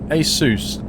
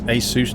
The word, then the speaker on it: ASUS: You can pronounce it Asus, Asus, or Asus. They don't mind to be honest. They themselves pronounce it Asus, but you can say Asus, asus. UK, it's quite common to say ASUS, but um over there they say ASUS, I think.